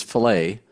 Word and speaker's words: fillet: the pronunciation is fillet.